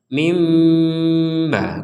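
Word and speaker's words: من بعد: mim kecil ini bahwa kita harus membacanya dengan Mim m mim bukan Min lagi bukan Min tapi mim disertai unsur dengung nah disertai ada unsur dengungnya mim kemudian ba mim ba kalau orang mendengar kata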